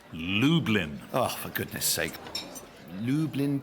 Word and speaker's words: Lublin: yep Lublin to Dublin close I'm afraid it's pronounced Lublin oh for goodness sake